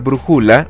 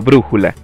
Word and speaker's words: brújula: zapato o zapat y tampoco podemos pronunciar brujula o brújula sino brújula el acento nos